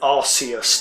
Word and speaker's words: Arceus: got its official name, I stick with Arceus, by the way, that's with a hard C.